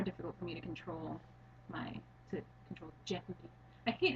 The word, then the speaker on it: Jehuti: I always thought it was Jehuti, but it's Jehuti, and they make it sounds so stilted when they're doing You actually take the dialogue. time to pronounce the Yeah, H.